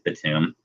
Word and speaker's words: Batum: back to the tomb I don't know if I said btim earlier I always say that btim it's Batum sorry if I mispronounced his